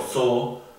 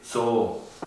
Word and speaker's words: Zoo: significa té, justamente, o zoo, que significa zoológico. Ahí se pronuncia un poquito más largo, se pronuncia té, zoo.